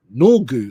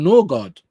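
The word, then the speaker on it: Nørgaard: Norgu instead of Norgard.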